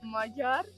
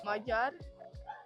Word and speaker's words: Magyar: Magyar. Magyar. Oh, you have to you have to roll your tongue. Yeah, you are. Magyar.